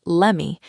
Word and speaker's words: let me: She pronounced it as lemme. Just like give me turns into gimme, the words let me turn into lemme in fast, casual speech.